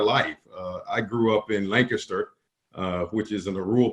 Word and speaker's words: Lancaster: we know you're not from Lancaster because we pronounce it Lancaster not laying I guess is our dialect from